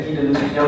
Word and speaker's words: Guy de Lusignan: Ya, tulisannya begitu ya, Guy de Lusignan, bacanya Guy de Lusignan katanya.